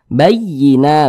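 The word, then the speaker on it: بَيِّنَة: bacanya itu Din naaber naber itu adalah penekanan pada huruf-huruf tertentu sehingga intonasi suaranya itu sedikit lebih tinggi dibanding huruf-huruf di sampingnya jadi dikejut ditekan bayyina bayyina begitu Nah penekanannya itu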